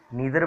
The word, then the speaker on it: neither: सबसे पहले तो इसकी प्रोनाउंसिएशन की अगर मैं बात करूं तो आप इसको ईदर बोल लीजिए या आइदर बोल लीजिए, नीदर बोल लीजिए या नाइदर बोल लीजिए, दोनों ही प्रोनाउंसिएशन इसके सही होते हैं।